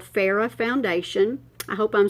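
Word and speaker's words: Phoera: ordered online it's called farah foundation i hope i'm saying that right i think the o is silent p-h-o-e-r-a this makeup has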